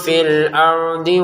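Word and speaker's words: الْأَرْضِ: Perhatikan untuk dotnya jangan dimantulin ya. Contoh syaiun fil ard. Huruf dnya enggak ada pantulan karena ini bukan huruf dal. Kalau dal memang dipantulkan ya. Syaiun fil ard. Ini huruf dnya tidak ada pantulan sama sekali.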